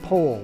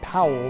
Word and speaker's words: Powell: robert stevenson smythe baden pole of gilwell but when he was around scouts he was simply bp and by the way the correct pronunciation of his name is pole like in whole not powell like in aloe this